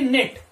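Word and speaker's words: knit: इस तरह के एन आई टी, नेट, यहां पर भी इसका प्रोनाउंसेशन क्या होगा, नेट, यहां पर भी के जो है वो साइलेंट है, और नेट का मतलब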